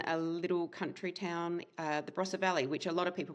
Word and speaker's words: Barossa: In Australia, where I am living right now, in South Australia, in a little country town, the Barossa Valley, which a lot of people might know for the wine region.